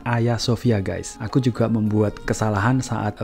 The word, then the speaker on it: Hagia Sophia: tulisan bahagia Sofia ini harga Sofia ini dibaca Ayah Sofia aku juga membuat kesalahan